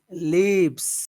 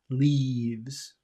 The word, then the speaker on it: leaves: mouth okay so leavs leaves leaves and you smile and your mouth is open and your tongue feels very tense leaves it's a very tense sound number two leavs that's